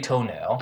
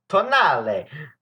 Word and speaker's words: Tonale: But anyway, let's talk about the spaghetti toenail. Oh yeah. Alfa Oh, Romeo yeah. brought a new crossover, and I think it's supposed to be pronounced like tonale, but it's actually pronounced toenail. Yeah, pretty much toenail.